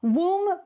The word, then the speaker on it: Woom: Woom Bicycles rhymes with Zoom, but with a W instead.